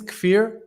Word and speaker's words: Kfir: yes of course so um my name is kefir it's a little bit unpronounceable name it's because it comes from the